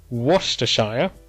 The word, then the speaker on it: Worcestershire: areas in West Midlands is our Birmingham Coventry Worcestershire that's how it's pronounced and Staffordshire now it is interesting to